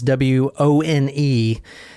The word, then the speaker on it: Wone: Yeah, it's the one with Robert Wone, is Wone, and from other newscasts and stuff, I heard that's how they pronounce it. So Wone is the loneliest number you'll ever do.